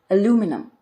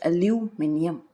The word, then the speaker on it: aluminium: In American English, it's pronounced as aluminum, while in British English, it's pronounced as aluminium.